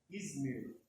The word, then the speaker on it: Izmir: Ela fica lá no país da Turquia, com o nome de Izmar. Nome meio diferente, Aqui, se eu não errei a pronúncia. Izmir.